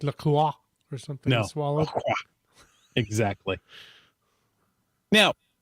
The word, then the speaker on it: LaCroix: um I found out it is Lacroix and it's purposely mispronounced from the French even though it has a French spelling but you know what that's not a big concern it's not like Lacroix or something yeah exactly